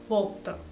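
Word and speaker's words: brugt: broke की spelling तो जी के साथ है बट जब आप उसका प्रोनंसिएशन करेंगे तो आप बोलेंगे वो बोक्त तो बोक एट ये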